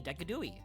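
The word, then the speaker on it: Decidueye: Decadooi. Is that not how you say his name? D E C I D U E Y E. Decadooie.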